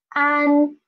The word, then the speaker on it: an: So first, try to pronounce a, and then try to pronounce n, n. For this one, you should rise up your tongue, rise up the formal part of your tongue, especially the tip of your tongue, and try to put the upper gum. Okay, try an, an, an. So this is an.